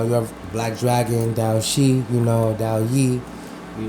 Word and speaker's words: Xi: I'm letting y'all know is Dao Shi, Black Dragon. The is spelled Xi though.